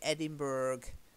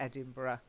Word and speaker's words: Edinburgh: you'll find it and a lot of people say Edinburgh but it's not Edinburgh of course open bar or